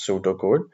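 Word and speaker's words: pseudocode: program in pseudo code uh the word is pronounced as pseudo code before they write the actual code of programming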